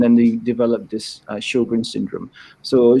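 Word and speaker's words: Sjögren: know someone will ask about the question so sjogren's how it's pronounced it's actually a syndrome people with rheumatoid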